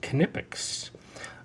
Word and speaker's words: Knipex: This is a very well-regarded pair of pliers made by, I believe it's pronounced Knipex.